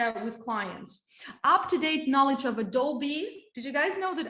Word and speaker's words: Adobe: clients up-to-date knowledge of adobe did you guys know that adobe in english is pronounced as adobe not adobe okay adobe adobe photoshop illustrator